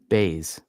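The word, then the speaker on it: Buys: in the UFC um baze their last name is baze but it's spelled bu Ys well that's not cool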